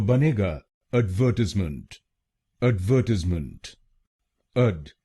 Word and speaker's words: advertisement: British English में इसको बोलेंगे एडवर्टीजमेंट। एडवर्टीजमेंट।